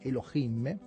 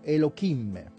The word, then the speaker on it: Elohim: due parole sulla pronuncia si normalmente si dice elohim si può anche dire e luminet noterete che non pochi dicono e lo kim e lo kim è sbagliato non è corretto lo diciamo fin da